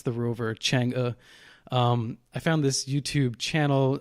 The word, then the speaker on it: Chang'e: Chang'e. It's Chang'e 4. Chang'e.